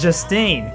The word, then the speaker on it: Justine: It's Justine. Say it right, big nose.